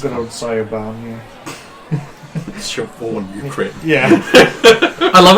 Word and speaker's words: Siobhan: Siobhan, you crit. Yeah. I love it when they, like, because we customers that come to work and, like, spell Siobhan, like, Chevaughan. Yeah. Like, Chevaughan.